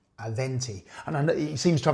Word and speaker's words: Aventi: And just so you can see it here, it's Aventi, not Avanti. Aventi.